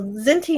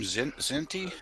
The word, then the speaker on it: Kzinti: I'm thinking of the name Kzinti, if I'm pronouncing it correctly. That's right, they're the Kzinti.